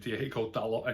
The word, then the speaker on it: Diogo Dalot: In the Sun, it's been reported that Diogo Dalot is, or however you pronounce his name, I pronounce it Diogo Dalot anyway.